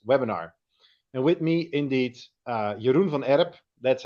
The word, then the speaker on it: Jeroen van Erp: And with me, indeed, Jeroen van Erp.